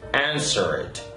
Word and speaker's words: answered: Por lo tanto, si le agregas ed, a un sonido sonoro, va a sonar como una D. Así que aquí pronuncias answer y aquí pronuncias answered.